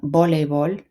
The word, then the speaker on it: voleibol: The V, make sure that's being pronounced as a B, voleibol.